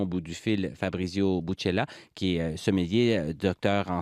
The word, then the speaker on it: Bucella: C'est bien Buccella? Oui, parfaitement.